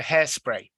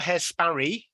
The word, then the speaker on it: hairspray: get my pronunciation for Hairspray hairspray it's not hair Sperry hair spray hairspray okay good let's have